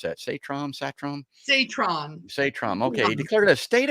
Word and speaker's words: Satrom: How do you pronounce that? Satrom? Satrom.